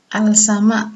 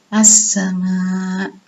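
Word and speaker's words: السماء: Contoh yang kedua yaitu As-Sama, dibaca Al-Sama, tapi Alif Lam diikuti huruf Sin, jadi lamnya juga hilang, jadi baca As-Sama.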